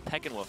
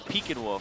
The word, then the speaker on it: Pekingwolf: I thought it was Peckinwolf because that's how it looks phonetically, but it's Pekingwolf because it's named after a Pekingese dog.